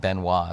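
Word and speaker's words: Benoist: aircraft that basically flew the world's first commercial benoit is how it's pronounced yes thomas benoit was the actual builder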